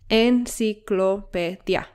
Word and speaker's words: enciclopedia: Like the word agua has two syllables, agua, and enciclopedia has five syllables, enciclopedia, and teléfono has four, teléfono. Great. Now notice that these words have the sílaba tónica or the stress syllable on the penultimate or second to last syllable.